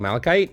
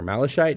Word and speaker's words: malachite: these rocks sitting around uh this is called malachite or malachite depending on how you pronounce it and it usually has really cool